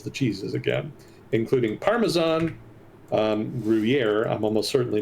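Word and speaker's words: Gruyère: It's a French Gruyere. word. Yeah. Understood. Thank you. Emphasis on the yeah. Gruyere.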